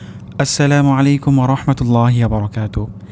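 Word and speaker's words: السَّلَامُ: এখানে সিন আমাদেরকে সুস্পষ্ট করে বলতে হবে আসসালামু আলাইনা।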